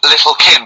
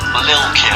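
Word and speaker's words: Lil' Kim: Now, Steve, I see there it's a track by Little Kim, but how are you pronouncing it? I'm pronouncing that correctly, Lil Kim. Oh, no T's involved.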